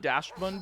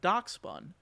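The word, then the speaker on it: Dachsbun: I know it's like Doxin. I always called it Dashbun because I didn't understand it, and then I realized that's how Doxin is spelled. And I'm like, okay, now I get it.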